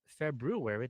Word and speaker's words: February: uh February 7th or February that's how it's spelled but everyone everyone says February February 7th February 7th uh 9:02 p.m.